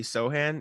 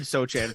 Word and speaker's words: Sochan: Yeah, I love Jeremy Sohan. Is that how you say it? I said Sochan for a while, Dude, and I messed I've been it up.